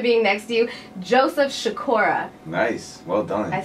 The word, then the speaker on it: Sikora: feels so good being next to you Joseph shakoora nice well done I said it right I